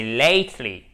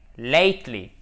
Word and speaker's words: lately: Avec une diphtongue ici, ce n'est pas lately, c'est lately. Lately. Et on a notre accent tonique ici.